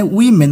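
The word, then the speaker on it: women: এখানে উইমেন উচ্চারণ হবে এটা।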